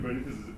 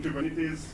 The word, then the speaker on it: Kubernetes: So the right way of saying Kubernetes is Kubernetes. Kubernetes. Yeah.